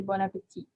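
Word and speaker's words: bon appétit: before they eat and when you pronounce it you don't say that last t at the end you just say bon appetit if you hear that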